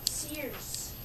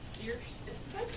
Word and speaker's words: Circe: Well, there's a Greek mythology story of Circe, the sorceress. She lived on an island. Sears. Circe, depending on where you live, you pronounce it differently.